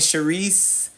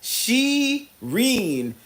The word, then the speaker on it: Shireen: My whole life like people call me Shereice, Sheree. Shereé. My name is spelled you. It's spelled the way it looks. Shireen. Shireen with an N. No A. No S.